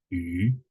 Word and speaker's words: 鱼: It pronounced like 鱼 with a rising tone.